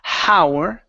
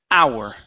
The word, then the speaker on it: our: Now, here instead of saying how, okay, there's no H at the very beginning. So, the word is our.